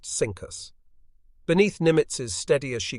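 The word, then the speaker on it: CINCUS: from its unfortunate predecessor cinus pronounced cinus beneath nimitz's steady as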